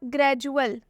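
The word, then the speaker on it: gradual: जे से करेंगे एक और एग्जांपल देखिए आप ग्रैजुएल ग्रैजुएल में क्या आया है यू ए ल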